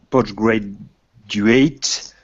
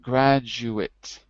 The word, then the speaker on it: postgraduate: In reality, he took part of the postgraduate diploma course. Say it like this. Postgraduate. Graduate. Postgraduate diploma. Not graduate, but graduate. Postgraduate Good.